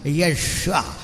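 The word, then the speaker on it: ישוע: പറയുന്നതാണ് വലുതെന്ന് കാണും അങ്ങനെയല്ല യേശു എന്ന പേര് പോലും തെറ്റിച്ചു പറയുന്ന സായിപ്പ് നമ്മൾ കുറെയൊക്കെ ശരിയാ പറയുക ശരി ഉച്ചാരണം യഷ്വ എന്ന് പറയണം എങ്ങനെയാ കർത്താവിനെ വിളിക്കേണ്ടത് യഷ്വ അത് ഏകദേശം ശരിയായി പറയുന്നത്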